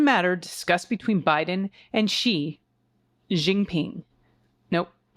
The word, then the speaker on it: Xi Jinping: discussed between Biden and Xi Jinping. Nope. How do you say? Did I do that right? Xi Jinping. Look at me. All right. Xi Jinping. I got one right.